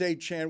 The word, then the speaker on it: Achan: We have not been calling him Achan. That's the first I'm hearing that his name is Achan. It's the first any of us are hearing that his name is Achan. We've all gotten his name wrong the same way we did with Tony Perez.